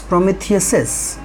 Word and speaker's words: Prometheus's: So Prometheus's, it is written Prometheus and apostrophe, but it will be pronounced as Prometheus's.